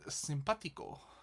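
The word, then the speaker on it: simpático: So, we start off with sympatico. Sympatico. Sympatica. Not forgetting the accent on the A.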